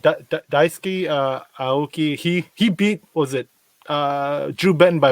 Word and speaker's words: Daisuke Aoki: because I heard his name get a bit butchered, but it was Daisuke Aoki won the event on Douglas this past weekend.